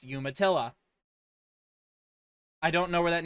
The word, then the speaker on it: Umatilla: county sheriff's office said and yes it is pronounced umatilla i don't know where that name comes from